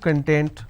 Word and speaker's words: content: have the word content I break it into two syllables when I pronounce this as con tent it means ingredient or index when I pronounce this as Kun that means happiness or being happiness or being self satisfied so these are the